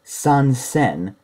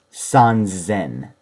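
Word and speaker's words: 三千: makes an irregularity again it's not Sun sen it's Sun Zen it's just the way it is sanzen means three thousand and similar to uh sun biaku which would be 300 Sun Zen is also used to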